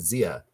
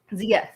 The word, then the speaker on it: Zia: It's a native word. We pronounce it Zia here. Zia.